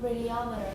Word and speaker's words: radiometer: Put the stress on the third syllable. Stress the third syllable. Listen to yourself say it in your head. What is the little tune we sing to stress it on the third syllable? Say it with mm. Okay, Jerome? Right. Try again. Yeah, finish. But make it a schwa at the end. The second to last syllable should have a schwa. Radiometer. There we go. Doesn't that feel good now?